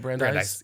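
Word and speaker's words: Brandeis: bry's Bry brandise how do you say it brandise yeah brandise take out me getting it wrong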